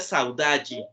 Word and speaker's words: saudade: saud allí lo saudades se escribe saudade con ese saludable no y se pronuncia saud allí no y esta salud